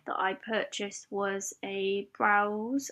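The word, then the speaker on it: Brause: i purchased was a browse i think it's pronounced brows b is b-r-a-u-s-e and that's a 3-6-1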